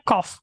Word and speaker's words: cough: Tulisannya cough tapi bacanya cough, K-O-F bacanya, tapi tulisannya C-O-U-G-H. Cough.